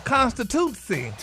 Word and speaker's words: constituency: So this week's word, Ricky, is constituency.